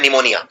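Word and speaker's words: pneumonia: निमोनिया पी से शुरू होता है लेकिन इसमें पी का उच्चारण नहीं किया जाता, तो निमोनिया आपको लिखते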